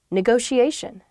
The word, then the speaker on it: negotiation: is negotiation negotiation yeah there are two t's in this but neither t is a hard t they're both very soft that sh sound because they're followed by the i and another vowel that she a negotiation